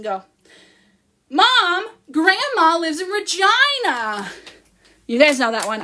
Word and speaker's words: Regina: that rhymes with fun, but it actually rhymes with, you know, Regina rhymes with, so some people were upset by that, but I was like, that's funny, that's what everyone is thinking.